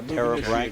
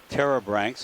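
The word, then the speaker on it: pterobranch: So another one or two of those things that I was calling a terebranch, the little fuzzy brown things. 0.1 knots. Terebranch is spelled P-T-E-R-O-B-R-A-N-C-H, which means wing gill.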